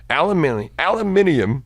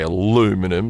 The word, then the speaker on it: aluminium: Aluminium. Fuck. You said that one right for your part of the world. Aluminium. No, I say aluminium. I didn't say aluminum like you. Like people. how it's spelled.